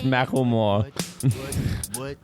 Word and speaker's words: Macklemore: It's Macklemore. Oh, well, let's trust that pronunciation because they thought it was cute and decided to put it in a song.